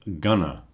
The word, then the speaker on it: going to: onto the subject and when people are speaking you often hear going to pronounced Gunna people say I'm going